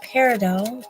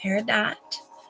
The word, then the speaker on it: Peridot: crystals um connected to these Energies is our Peridot which is a um birth sign for our